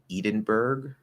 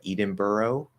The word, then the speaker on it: Edinburgh: i'm pretty sure that most americans would probably try to say something like edenburg or edinburgh um but quite a few of us have been exposed to the more correct pronunciation of that to know that it should be something more like uh edinburgh or eden how do they say